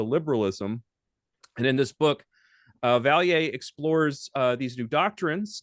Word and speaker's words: Vallier: I kind of mispronounced and pronounced it correctly there. I caught myself saying Vallier. It's Vallier.